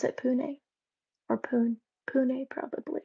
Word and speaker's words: Pune: Do you pronounce it Pune? Or Pune?